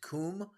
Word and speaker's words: Cwm: It's actually spelled CWM, but it's pronounced Coom.